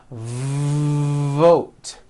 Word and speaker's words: vote: at the word vote you've got to stretch out the V like this vote vote are you hearing that long V sound that's what you should